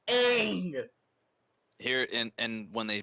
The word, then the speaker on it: Aang: They kept calling him Ong. Are you kidding me? It's Aang.